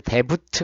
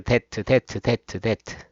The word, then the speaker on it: debt: credit card 신용카드에 DEBT에서 B는 묵음이에요. 이거 데부트 그러지 말고 데트.